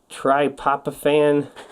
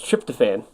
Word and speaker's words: tryptophan: uh fenine valine therine triop ofan oh it's tryptophan tryptophan uh methan uh lysine